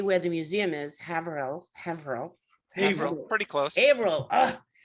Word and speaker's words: Haverhill: where the museum is haverill hevro pretty close april uh one day francesco i would get it uh haverhill harold it's spelled haverhill but pronounced hey vril oh hey bro okay